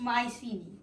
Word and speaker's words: Mycenae: know how it's really spelled but but it's pronounced Mycenae just remember that there won't yeah but I